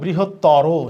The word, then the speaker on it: বৃহত্তর: এরকম শেষে ও উচ্চারিত হয় এরকম কিছু শব্দ আছে, যেরকম আমরা এটাকে কি বলি, এইটা বৃহত্তর না, এটা হবে বৃহত্তর, শেষে উচ্চারণের সময় রয়ে ওকার হবে।